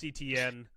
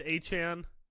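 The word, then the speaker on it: Etienne: They lost Travis ETN. Could they go? Mike Washington Jr. here. They can't find him. They don't know where they put him. He renamed himself. He says it's pronounced Achan.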